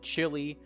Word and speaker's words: Chile: But in terms of pronunciation, they are pronounced the same. Chile and Chile, which is uh quite cold.